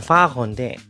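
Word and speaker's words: Pfarrer: 목사가 독일어는 파거인데 이것도 발음이 어려워요. 이게 P랑 F랑 아무튼 이게 같이 있어가지고 이게 잘못 발음하면 파거 운전자가 됩니다.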